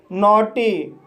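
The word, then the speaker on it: naughty: तो गाइस इसका पहला रूल है, जब किसी वर्ड में AUGH आए तब GH साइलेंट रहता है और AU का उच्चारण O होता है। जैसे नोटी, नोटी शब्द में AUGH आया है, इसलिए GH साइलेंट रहेगा और AU का उच्चारण O होगा, इसलिए इसे नोटी पढ़ा जाता है।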